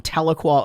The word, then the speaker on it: Tahlequah: do I'm going to be in your town, Tahlequah, Oklahoma. How you pronounce it right?